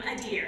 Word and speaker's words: Adir: him with some authority you pronounce his name adir as in doe a deer he likes to wear